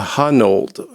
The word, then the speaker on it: Honnold: a gentleman by the name of Alex A Honnold.